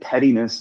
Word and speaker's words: pettiness: I think I think pettiness is is a is a large term. Uh I think you can you No, it's not. It's a small term. Pettiness. Pettiness. Pettiness. It's three syllables.